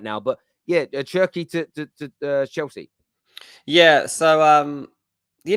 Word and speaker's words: Cherki: Is it pronounced Cherki?